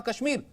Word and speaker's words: कश्मीर: ये काश्मीर नहीं, ये कश्मीर है।